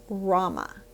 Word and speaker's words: Rama: Rama R M A Rama it's a Hindu deity and um it is so simple to use and say and so powerful in part because it's two syllables and so if you're